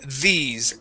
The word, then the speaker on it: these: a a d sound when we pronounce the th in English you want to put your your tongue between your teeth just like that and say these these try that okay good good